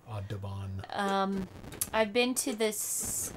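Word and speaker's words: Audubon: good one I've also uh um I'm probably pronouncing that wrong a u d u b o n oh aabon aabon um I've been to this uh not Santa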